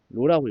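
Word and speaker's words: ρ: 힘는로 여기서로는 밀도 그래요 밀도 로라고 읽어요로로 로 g 중력 과속도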